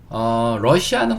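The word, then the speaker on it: Russia: 약간 여기에 강세만 살짝 넣어주면 똑같습니다. 러시아.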